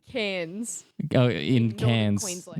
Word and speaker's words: Cairns: It's pronounced cans.